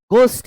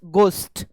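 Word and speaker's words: ghost: country से love से घोस्ट इसको घोस्ट नहीं पढ़ते हैं एज साइलेंट होता है इट्स गोस्ट गोस्ट और थ इसका करेक्ट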